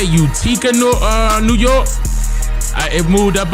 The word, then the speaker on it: Utica: It's pronounced, wait man, Utica, New York, Utica.